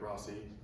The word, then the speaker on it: Rossi: My name is Rossi. We say Rossi because that's how it's pronounced.